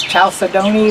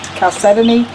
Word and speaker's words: chalcedony: And some people recognize it as chalcedony, but the correct way to say it is chalcedony.